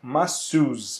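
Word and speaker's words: masseuse: isso que elas têm uma pronúncia um pouco estranha para nós Ok então como é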